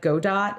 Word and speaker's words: Godot: and i also tried godot i think it's pronounced not godot it's spelled like godot but i think it's pronounced go dot okay doesn't make sense